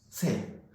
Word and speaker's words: 유세: 가설 유세. 자, 이건 설이라고 읽었고 이건 세라고 읽었습니다.